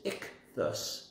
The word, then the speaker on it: ichthus: they were living in the greek word for fish is ichthus that's how it's said ichthus i think they